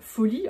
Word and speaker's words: Folie: Le terme folie, enfin prononcé folie, en accentuant le faux, et là la prononciation c'est écrit pour que vous sachiez comment bien le prononcer.